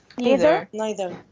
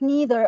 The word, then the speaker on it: neither: Mrs what's the word neither did she pronounce it like neither or neither she said yes yes both are correct but she said neither okay both are correct